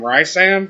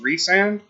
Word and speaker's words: Rhysand: But I'd have to say my second favorite would be Rhysand, and I was calling him Rhysand for some reason, just because of how it's spelled, but it's apparently pronounced Rhysand.